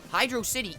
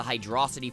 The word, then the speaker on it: Hydrocity: that makes perfect sense Hydro city is literally a water level that takes place in an old abandoned civilization looking at the name of the level in that light it begs the question what the heck is a hydrosity none of the possible answers make any sense and another knock against the hydrosity pronunciation is I wasn't able to find any specific grammar rules that validate oh making the a sound in that kind of word but I